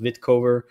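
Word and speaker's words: Wittkower: the past it's Rudolph vitkovar um w-i-t-t-k-o-w-e-r so it's spelled with a W but pronounced vitcover this is a fantastic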